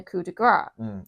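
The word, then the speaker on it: coup de grâce: kick, and then a coup de grace. Or coup de grace. Coup de grace. If you believe Michael Cole. The S is silent, technically. He always says the S.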